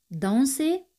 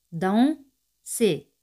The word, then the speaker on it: danser: El verbo danser significa bailar. Danser. ER, que es ER, se pronuncian como E española.